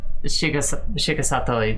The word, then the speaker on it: Shigesato Itoi: I'm gonna pronounce that so badly. Shigesto Itoi? Shigesato Itoi.